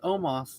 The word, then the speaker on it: Omos: out almost excuse me that is not how you pronounce my name i was like wait you're saying his name wrong it's omas not not almost you almost so i'm